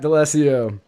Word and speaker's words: D'Alesio: I'm going to mispronounce this name even though I just asked. You got it. Matt D'Alessio.